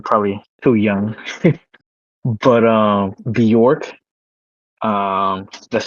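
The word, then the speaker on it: Björk: Oh, a Yeah, she's um she's from York. B York. It's like Bork, right? It's kind of like that. Yeah. Bork.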